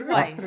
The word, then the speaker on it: Weis: We literally did like Weiss. What are Wise. It's Wise. Wise. Where you literally get different area. Drop I'm a correct. comment. I'm is correct. It Weiss or is it Wise? It's Weiss. I'm from 20 miles They